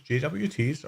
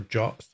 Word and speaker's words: JWT: working correctly that outputs jwts or jobs i believe we're supposed to pronounce it so it can be